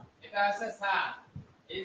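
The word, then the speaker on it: ث: ছা।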